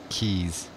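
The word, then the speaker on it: cay: flying around the different keys they kept saying K and I'm like no it's key its key its key it's well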